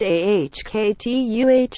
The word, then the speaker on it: Okta: That's where Okta, Nasdaq Okta, pronounced AHKTUH, comes in.